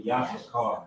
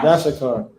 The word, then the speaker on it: Yashakar: Yashakar. Yashakar. Okay, because we were just saying Yash car, Yashakar.